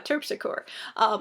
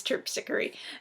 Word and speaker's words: Terpsichore: I thankfully Carol put like a pronunciation thing in here because I read it, I was like, oh, Terpsichore. But no, it's Terpsichore.